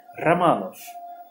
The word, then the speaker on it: Romanov: A pronúncia correta em russo é Romanov.